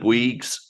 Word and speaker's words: Bouygues: the Swaffham Prior Community Land Trust, Government, and Bouygues, that is how you pronounce it, Energies and Services Limited, and the